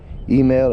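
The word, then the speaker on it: Himel: right there says Vivian email email is h i m e l that's how they kind of spell it down here in in the south in Louisiana email um it's like a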